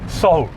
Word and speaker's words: Seoul: You can pronounce these 5 Korean words. What do you have? Seoul. 다시? Seoul.